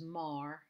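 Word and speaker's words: מר: the resh together make a word which is mar which means bitter in genesis 24 37 and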